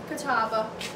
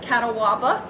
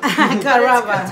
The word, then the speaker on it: Catawba: Catawba. A lot of people pronounce it Catawaba. Catawba.